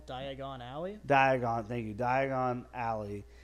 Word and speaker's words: Diagon Alley: So when you see like uh D uh oh my god, I can't pronounce it. Uh D Oh my gosh. Diagonal Diagon Alley.